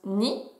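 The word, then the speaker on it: 二: Le 2, ça se prononce ni.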